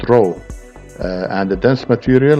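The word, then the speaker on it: rho: density is also designated the greek letter r pronounced row and the dense material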